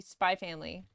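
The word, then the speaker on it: Spy × Family: the X I don't apparently you're not supposed to pronounce the X so like spy X family it's supposed to be just be spy family is that crazy what's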